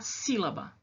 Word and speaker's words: sílaba: da palavra por exemplo a palavra sílaba sílaba abro a minha boca três vezes para falar essa palavra sílaba qual é a qual é a o pedacinho mais forte qual é a sílaba mais forte a primeira né sim se babá eu falo sílaba e não sílaba ou se lavar eu falo se llama essa primeira é mais forte certo não olha a